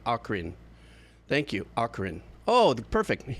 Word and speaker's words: Ocarina: Hard O, hard C, Ocarina.